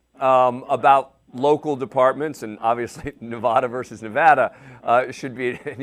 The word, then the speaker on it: Nevada: and Shawn stick Larkin how to pronounce Nevada it's not Nevada it's Nevada so you think he can